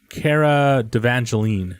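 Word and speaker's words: Cara Delevingne: save it by the way her name is Kara Devan Jolin is how you say her name and their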